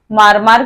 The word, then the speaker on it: मरमर: बिच्छू को मुंडारी में मारमर कहते हैं और नगरी मुंडारी में मारमर का उच्चारण करते हैं। क्या मरमर इस तरह से मरमर मकड़ा को मुंडारी में